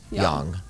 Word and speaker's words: yang: actually the proper way to pronounce um is pronounced yang right understood okay so it's yin yang okay